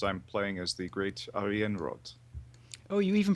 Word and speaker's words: Ariianrhod: Brian and yes I'm playing as the great Aryan rod oh you even pronounce it better than I do and on